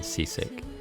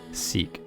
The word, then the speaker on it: Seesk: I'll remember to call you by your preferred pronunciation other than Seasick. Seesk. Like cease and desist.